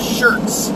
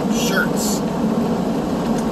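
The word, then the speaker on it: Schertz: to a town called shirts texas uh it's spelled the proper way it's spelled like it sounds s-c-h-e-r-t-z shirts so uh yeah i'm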